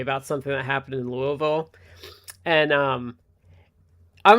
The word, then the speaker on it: Louisville: Cuz if you're watching this and you don't know because people that aren't like from around the surrounding areas it is not Louisville. It is Louisville.